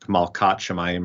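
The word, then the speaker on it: מלכת השמים: queen um and then if it was going to be in construct it would be malat so You' hear like malat shamayim or whatever and but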